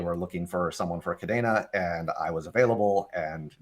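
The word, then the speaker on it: Kadena: It's Cadena. a spinoff of the Spanish word cadena for chain, but spelled with a C. And so we pronounce it with the Spanish pronunciation, which with the A, cadena.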